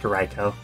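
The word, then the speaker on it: ライコウ: Raikou, actually. In Raikou. Japanese, it's pronounced Raikou.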